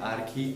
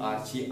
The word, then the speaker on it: Archie: Engine आपको मिला, तो इसका नाम है आर्की आर्ची। आप कौन सा भी स्पेलिंग प्रोनाउंस कर सकते हो, ARCHIE।